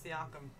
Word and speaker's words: Siakam: Is that a 99 Siakam? I figured out how to say it, guys. Siakam.